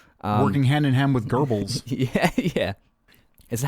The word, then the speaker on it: Goebbels: Working hand in hand with Goebbels. Yeah. Is that how you pronounce his name?